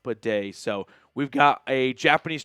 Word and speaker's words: Badie: which is Tyler pedet and yeah it's not batty anymore it was at one point and Andrew Mason shared a picture of the pronunciation guide from week two which clearly says